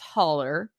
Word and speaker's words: holler: it the hauler because it's a steep ravine which is a hollow and it's pronounced holler locally and if you look